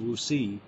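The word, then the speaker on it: WuXi: buyout of RI Pharmaceuticals it's spelled wxi but pronounced wooi and woi pharmaceuticals is a Chinese company that is a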